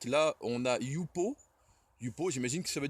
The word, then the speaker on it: jupo: Ensuite, on a le I de idéo, le J qui se prononce ye comme yogourt. Là, on a yupo.